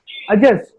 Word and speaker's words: adjust: D and J, whenever D and J are together, D is silent. The pronunciation should be of J. Like it's not adjust, the word is adjust.